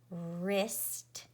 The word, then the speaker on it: wrist: And remember that W-R together says and the W is a ghost or silent letter, and K-N or G-N says N, and the K is a silent or ghost letter.